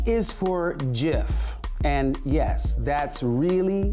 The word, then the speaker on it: GIF: G is for GIF, and yes, that's really how you say it.